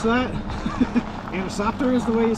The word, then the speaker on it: Anisoptera: If you guys want a good laugh, go back to my last trout video and listen to me try to pronounce that. Anisoptera is the way you say it.